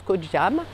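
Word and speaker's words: Koh Jum: Je suis sur l'île de Koh Cham, en Thaïlande, ça s'écrit J-U-M, mais ça se prononce Koh Cham.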